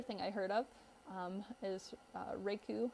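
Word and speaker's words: raku: I heard of is rake ooh I believe that's how it's pronounced the rake ooh done with pottery can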